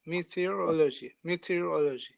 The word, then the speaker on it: meteorology: In Turkey, the emphasis is on a different syllable than in English. Yes, exactly. Meteorology.